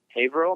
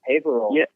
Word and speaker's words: Haverhill: Favorite show probably would have to be in Haverhill, Massachusetts. Is that how you pronounce it, Mark? Oh yeah, that was a good one. Haverhill.